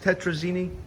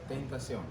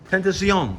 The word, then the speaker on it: Tentazione: How's that pronounced? Tetrazzini? Yeah, Tentazione style. Tetra? Tentazione. Tentazione. Italian.